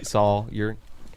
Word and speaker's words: Sawyer: Sawyer. Just like lawyer.